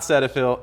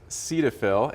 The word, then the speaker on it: Cetaphil: These are familiar names, Cetaphil and CeraVe. So what's the usage of those two? Correct. So we confirmed this before we started here. It's not Cetaphil, it is Cetaphil, and then this is not CeraVe.